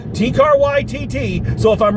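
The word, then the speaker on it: Taika Waititi: So I'm using the pronunciation someone left in the comments section of the video, T-Car YTT.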